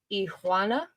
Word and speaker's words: Iguana: because the G is silent in Spanish. So Mr. Iguana.